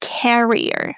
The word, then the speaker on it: carrier: In the word carrier, we pronounce a as in apple and we stress the first syllable, carrier.